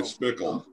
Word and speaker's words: Speichel: i pronounce his name it's like remind it rhymes with pickle okay spickle okay and uh any